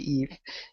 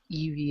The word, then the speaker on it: Eevee: based on the fact you pronounced it Eve. Okay, Eevee.